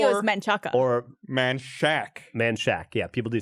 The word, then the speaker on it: Manchaca: Manchac. In Texas, the street or area. In Austin. In Austin. Sorry. Manchac. It's Manchac. I would think it was Or- Menchaca. Or Manchac, Manchac.